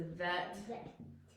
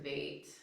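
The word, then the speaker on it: ב: And it's a vet or a vate.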